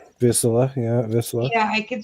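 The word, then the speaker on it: Vizsla: The miniature greyhound, or as your daughter said, the Visla, I think is how it's pronounced. Visla, yeah, Visla.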